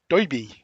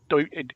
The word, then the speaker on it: Doiby: Alan Scott is there with, he calls him Darby, but if you're a Green Lantern fan, you may know him better as Doiby. Doiby Dickles was the character's name. How do you say it? Doiby.